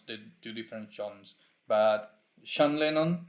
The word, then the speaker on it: Sean: I'm not sure how to pronounce the two different Johns, but Sean Lennon, I think it's Sean. It's Sean instead of Jhon.